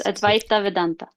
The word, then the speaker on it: Advaita Vedanta: So, one of your traditions that you said you had learned from was Advaita Vedanta. It's Advaita Vedanta. Advaita Vedanta.